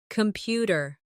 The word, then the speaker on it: computer: Computer. The stress is on the second syllable, computer.